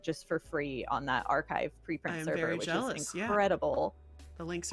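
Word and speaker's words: arXiv: There's actually a website called archive, like it's spelled like arcs, like a ru x iv.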